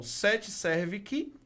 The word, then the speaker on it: 7 Servic: redes sociais, é o 7 Servic. Gente, eu falo 7 Servic porque o C é mudo, tá?